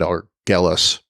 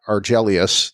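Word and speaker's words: Argelius: arjelius ii that's that i probably said it wrong before i think i said er gellers but yeah arjelius two is the planet and this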